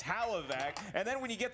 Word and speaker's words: Hlavac: Adam can't even pronounce his last name properly it's hallo vac and then when you